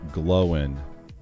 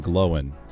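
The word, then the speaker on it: Glóin: the Rings Owen and glowen with two symbols so o oh so it's not o and gloin it's Owen and gloen they are not pronounced to rhyme with coin okay so it's it's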